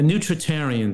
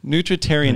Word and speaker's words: nutritarian: what is the name this how do you pronounce the name of your the specific diet that you kind of follow a nutritarian diet nutrition and this is the first time